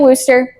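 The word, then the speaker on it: Worcester: I've heard Worster. It's like worer sauce. Exactly. Either way, Samuel Worster.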